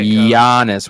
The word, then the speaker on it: Giannis: he shut jonas down how do you say his name say it giannis with a y yeah yeah y-u-h-y-u-h